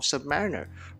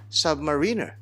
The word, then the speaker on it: Submariner: And finally, Cosmodoc says you cannot use a Rolex ad from Britain to show the correct pronunciation of Submariner.